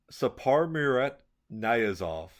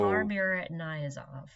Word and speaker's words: Saparmurat Niyazov: Sapar Saparmurat Niyazov. So Saparmurat Niyazov.